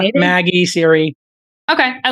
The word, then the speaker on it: Magi: the project is codenamed Magi. And I'm not sure if it's pronounced like Maggie or Magi, like magic, but it's spelled like Magi, like magic without the C.